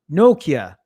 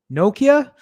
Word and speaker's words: Nokia: than anything else um deepak says in europe we pronounce it no nokia nokia am i saying that